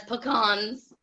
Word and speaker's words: pecan: Ah, I've heard people say pecans. Pecans. Too, yeah. We just say where I'm from, we say pecans, but I've heard Yeah. pecans, and it's like, oh, don't say that. That sounds so ugly. It's pecan.